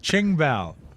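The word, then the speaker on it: Qing Bao: It's spelled with Ching. a Q. Yeah, but it's a Chinese name, so that means the Q is a ch. All right, Ching Bao.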